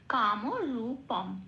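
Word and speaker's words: কামরূপং: আছে ময় হসন্ত দিয়ে অনুস্বরটা প্রতিস্থাপিত হয়ে সংস্কৃত উচ্চারণটা শব্দে তাড়াবে কাম রূপম এটা 80 পরের শব্দটি দুরা যেমন আছে তেমন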